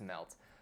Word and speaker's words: MLT: on the same framework called MLT and it's pronounced melt so kdenlive was based